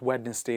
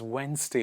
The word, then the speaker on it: Wednesday: a wetness day not Wednesday it is Wednesday what is it D silent Wednesday handkerchief handkerchief not hand